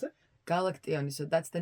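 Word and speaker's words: Galaktion: How do you pronounce it? Galactione.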